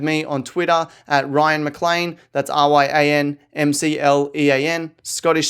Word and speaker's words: McLean: on Twitter at Ryan McLean. That's RyanMclean, Scottish spelling. Don't ask me why we spell it like that, but still pronounce it McLean.